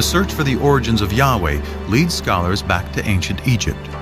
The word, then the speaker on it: Yahweh: would be yhwh which we think were probably pronounced something like Yahweh but Yahweh only appears